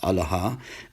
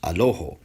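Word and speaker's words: ܐܠܗܐ: Meanwhile, in Eastern Syriac, Eastern Syrian Aramaic, it's pronounced Alaha, and in Western Syriac, it's pronounced Aloho.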